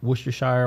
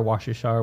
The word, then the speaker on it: Worcestershire: that says Worcestershire sauce you can say quite a few ways even here in the U.S but Worcestershire Worcestershire Worcestershire Worcestershire pretty much all of those are the same word style